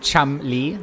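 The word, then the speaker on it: Cholmondeley: They're all in the Twitch chat telling us that you actually pronounce it Chumli, like that entire thing with syllables in the middle. You just forget it all. It's just Chumli.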